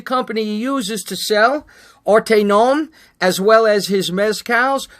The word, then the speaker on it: ArteNOM: So ArteNOM, he likes to think of it as it's the art of each nom, okay?